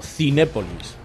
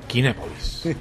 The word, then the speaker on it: Kinépolis: ¿Se pronuncia Kinépolis o Cinépolis? No, Kinépolis. Kinépolis.